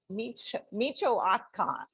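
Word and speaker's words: Michoacán: from a town in the state of micho michoacan hang on in mexico i'm hoping i wrote that down as phonetically saying micho akan something very close to that so that's where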